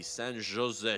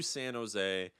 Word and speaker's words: San Jose: so we beat the San Jose shars I know it's not J but uh I know you don't pronounce the J but you know you